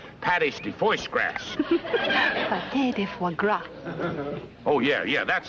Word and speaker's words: foie gras: stuff it's called pad HD voice cracks daddy foie gras oh yeah yeah that's how they pronounce that dusty he put in some hard-boiled